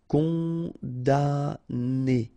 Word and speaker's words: condamné: Condamné, okay, so it's really strange because this M here, well, technically it's not pronounced. Condamné, okay, condamné.